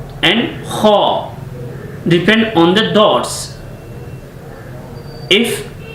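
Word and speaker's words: خ: And next letter is kha, kha. This is a heavy accent of the kha, and when you are pronouncing of this letter of kha, so you need to be open your mouth, kha, kha.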